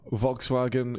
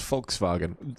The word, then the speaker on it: Volkswagen: made anywhere else anywhere at all so uh Volkswagen is pronounced Volkswagen see I didn't know that it was like